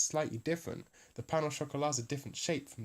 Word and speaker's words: pain au chocolat: But we drop the last T when we say it in English, pain au chocolat, and we also do the sh instead of the ch, right? So we kind of got a little bit of the French in there, but we're not going all the way.